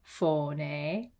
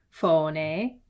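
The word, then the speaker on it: φωνή: F is for phone. Phone. Phone means voice. The name of this letter is phi, or phi in English, I guess. Phi makes a f sound. Phone. Phone.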